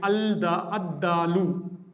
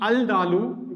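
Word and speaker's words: الدالُ: For dal we write ad-dalu. Instead of pronouncing al-dalu, we pronounce this as ad-dalu.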